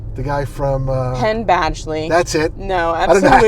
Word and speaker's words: Badgley: He looks like I know I got the name wrong. Bagley? The guy from... Penn Badgley.